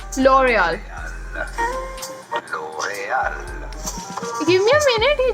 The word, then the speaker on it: L'Oréal: L'Oréal. L'Oréal. Yeah, damn. It's not L'Oreal. It's L'Oreal. The R is supposed to be pronounced as H.